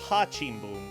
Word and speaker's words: Rá-Tim-Bum: Oh no, it's Hachimboom. What am I talking about? Because ours you pronounce with an H if they're at the beginning of a word when it comes to Portuguese.